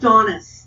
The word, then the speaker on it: Donice: It's pronounced Donice.